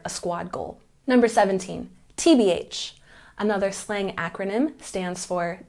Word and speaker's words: TBH: the letters correctly TB when we use the slang term we put the stress on the last syllable tbh tbh once again TBH